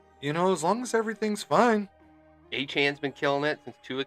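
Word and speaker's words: Achane: I like Achan.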